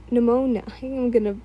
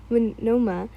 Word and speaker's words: Monoma: She looked back and gave a small wave to the few people who walked out and dragged Pneumonia, I keep saying his name wrong, Monoma, back into the room.